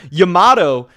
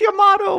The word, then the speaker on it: Yamato: yamato uh yamato whatever i know everyone always tries to roast me for saying it wrong but i don't know i like saying you may know but everyone's like oh it's your motto blah blah blah whatever